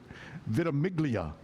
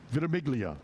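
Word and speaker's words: Ventimiglia: Uh Vimalo Vim Vitimiglia. Yeah. Vitimiglia.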